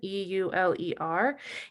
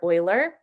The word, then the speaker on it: Euler: Euler is the mathematician that this is named after, Leonhard Euler. A lot of people say Euler, but that's not the appropriate pronunciation of his name.